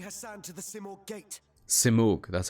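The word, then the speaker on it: Simurgh: here she's taking heran to the simor gate simor that's how you pronounce it theab ban may be right about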